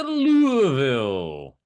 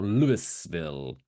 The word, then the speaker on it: Louisville: this week's Dumb Record takes to us to Louisville. Or Louisville, as it's spelled.